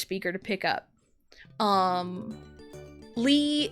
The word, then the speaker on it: Lee: Um, Lee is typically E. It's just romanized with an L with that surname.